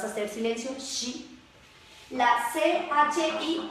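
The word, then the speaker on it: ち: La CHI, que suena chi, como cuando en español decimos chicle, chicharrón, chistoso, suena fuerte.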